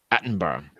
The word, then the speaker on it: Attenborough: I believe you're supposed to pronounce it Attenborough.